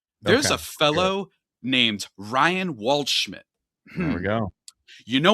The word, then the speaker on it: Waldschmidt: There's a fellow named Ryan Waldschmidt. There we go. You know what that name rhymes with? Oh, you know what other Schmidt it rhymes with?